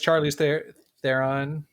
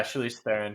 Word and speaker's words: Charlize Theron: As Charlie's Theron, however you say her name. Oh yeah, Charlize Theron.